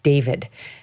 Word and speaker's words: D4vd: Okay, so in the limited time we have left, there's this singer and Tik Tok star named David. They spell it D, the numeral 4 V D.